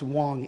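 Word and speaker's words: Wang: name of faye wong it's actually spelled w-a-n-g but it's pronounced wong in china and he admits an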